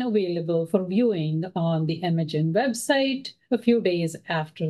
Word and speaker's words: MAGen: Welcome to the ML-AI Tools to Advance Genomic Translational Research, pronounced MAGen, Notice of Funding Opportunity webinar.